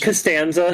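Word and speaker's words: Costanza: still don't know exactly who George castan it's pronounced castanza Shima Shima you have to put George castanza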